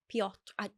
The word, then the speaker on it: Piotr: So apparently it's the Polish version of Peter, but it's pronounced like Piotr. Piotr.